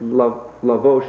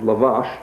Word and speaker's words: lavash: It turns out it lavos is lavash.